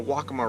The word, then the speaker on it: Waccamaw: It's the Waccamaw River, as I've been told it's pronounced, not Waccamaw, where you have these cypress trees just coming right out of the water.